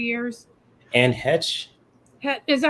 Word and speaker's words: Heche: It's Anne Heck, or it's spelled Heche.